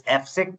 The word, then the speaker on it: AFSIC: We pronounce it as AFSEC.